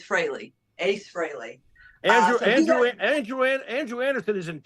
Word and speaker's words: Frehley: It's not Frehley, it's Frehley.